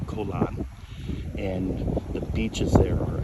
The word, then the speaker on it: Koh Larn: It looks like Koh Larn, but it's pronounced Koh Lan.